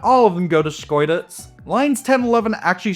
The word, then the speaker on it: Schkeuditz: I tried to pronounce it a ton. It's very fun to say. Say it with me now. Schkeuditz.